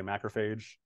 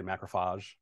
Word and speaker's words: macrophage: I did my work in immunology, and I always say macrophage. People from New York like to say macrophage.